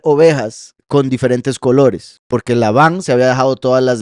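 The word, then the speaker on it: לבן: que está aquí marcado es el nombre lavan lavan blanco livne vean como también es como levan o sea esto se podría pronunciar levan si no fuera por los puntos de vocal que es la Luna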